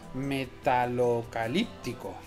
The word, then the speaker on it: Metalocalíptico: Ahora ya conseguiremos el logro de, a ver si lo digo bien, Metalocalíptico, que lleva acento en la primera y que lo sepáis.